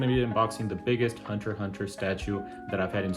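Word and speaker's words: Hunter × Hunter: Yes, I do pronounce it without the X. There has been a lot of discussion about that this past week, but I pronounce it Hunter x Hunter.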